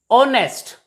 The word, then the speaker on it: honest: word r h is silent so it is pronounced as are not har honest not honest h is also silent here and